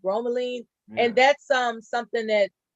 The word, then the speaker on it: bromelain: like yeah it's got the bromine uh bromelain of i think it's pronounced bromelain and that's um something